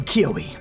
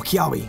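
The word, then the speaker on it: Kiawe: my goodness he's angry I am kioi or kwi however you want to pronounce my name my Marowak and I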